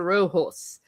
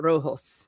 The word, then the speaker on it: Rojo: a violent feud between the Baxters and the Roos. I probably mispronounced that. Rojo.